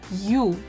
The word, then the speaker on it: ю: Я, these are 2 sounds y, a, ya, ю, y, u, you, е, y, e, ye.